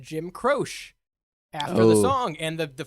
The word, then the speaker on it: Croce: Is it Croce? It's Croce. Jim Croce? Jim Croce. Croce? Whatever. That's how you say it, True.